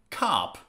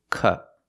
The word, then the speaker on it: cup: words are pronounced differently the first word is cup cup we have to make the short sound uhuh with a closed position uhuh cup cup and the second word is